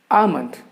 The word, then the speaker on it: almond: And the next word that I would like to share with you that are commonly mispronounced in India, that is almond. Almond. The pronunciation of this word is almond.